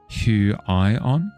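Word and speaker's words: Huion: As far as you know, uh, it's pronounced who I on.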